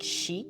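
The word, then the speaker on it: 死: The number four is avoided because it sounds a lot like she, like death, which is how you say death.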